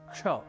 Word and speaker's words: क्ष: हमारा विशेष संयुक्ताक्षर है क्ष जिसका उच्चारण कुछ विशेष है अर्थात दो व्यंजन संयुक्त